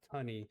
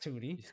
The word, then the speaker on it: Tunny: And it's Tunny, y'all. Not Tutti. Tunny. So, quite frequently. Yes, it does. Um it's always a difficult one to then try and explain what how to pronounce it in chat when you go and like raid someone. Yeah. And they say Tony. It's like it is tunny.